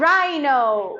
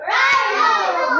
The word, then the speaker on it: rhino: h h is silent h is silent rhino rhino rhyme rhyme D is